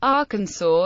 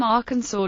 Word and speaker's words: Arkansas: south wind in 1881 the pronunciation of Arkansas with the final s being silent was made official by an act of